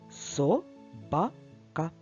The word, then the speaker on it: собака: соба скільки складів буде в слові собака три склади собака і наголос буде падати на другий склад і нарешті слово Цап